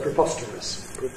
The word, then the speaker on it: preposterous: It's the word preposterous. And as you can see, because preposterous has got the stressed syllable on the second, and the others are